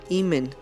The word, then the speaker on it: Amón: el hijo carnal de Amón. Curiosamente, Amón se pronuncia Imen, y ojo con Imen.